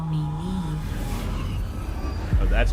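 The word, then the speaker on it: Niamh: I am here, in this place, You may call me Neve. Oh, that's how you pronounce it.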